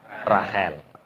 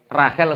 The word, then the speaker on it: Rahel: Cara bahasa Arabe Rohila. Bacanya Rahel. Orang-orang bacanya Rahel. Kart ya Rahil. Dari Rahel ini makanya kadang-kadang nama-nama seperti ini harus kita populerkan. Iya. Jangan sok Rachel seperti nama orang Eropa bukan.